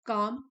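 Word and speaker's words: calm: And accepts outcomes with काम surrender. Accept मतलब स्वीकार करना। आउटकम होते हैं रिजल्ट। और काम है एल साइलेंट है काम शांत।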